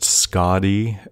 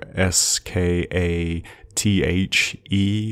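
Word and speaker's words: Skaði: I think it can be pronounced Skadi, Skadi, or Skathe, or Thi, as in Skadi, Skathe, Skadi.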